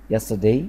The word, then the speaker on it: yesterday: yesterday yesterday الار بتتنطق خفيفة أوي.